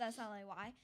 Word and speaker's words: Slay: And I said slay. And so now it's Slay Crochet. there you go. Yep. So at my business, Is it like sleigh, SLEIGH, or SLAY? SLAY. Okay, I figured as Like- much.